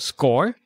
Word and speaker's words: Skore: of company which is offering a tool called score right is that how you pronounce it correct yeah so tell us a